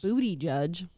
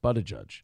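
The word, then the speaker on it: Buttigieg: over there's been a lot of plane fuckups booty judge well that's his dream job yeah his name is pronounced but a judge oh uh but ever since mayor Pete took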